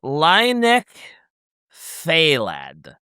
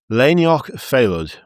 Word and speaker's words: Lainioch Phalad: Lynek Phalad. You're not far off, to be fair. You're not far off. It's Lainioch Phalad.